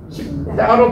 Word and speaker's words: 싶다: 십따로 발음나죠? 십따로 발음나, 십따. 십따로 발음나, 십따. 누군가의 아침이고 십따. 십따로 센 발음이라는 거, 십따.